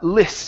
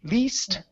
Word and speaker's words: list: one here is the short I uh list instead of Le least to list off things to list off things